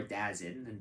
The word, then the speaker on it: DAZN: Uh just a reminder, all these games you can watch live or on demand on the Daisin network or Dazzin depending on how you pronounce it.